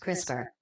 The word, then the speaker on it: CRISPR: interspaced short palindromic repeats crisper pronounced crisper brok orotic DNA containing